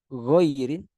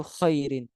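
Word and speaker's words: غير: Di situ ada kata ghairi, ghairin, tapi ada orang membacanya itu khairin. Nah, itu udah jauh sekali tuh antara kata ghair, ghairi sama kata khairi. Khair itu artinya baik, ghairi yang benar ghairi itu artinya selain atau bukan, bermakna negatif.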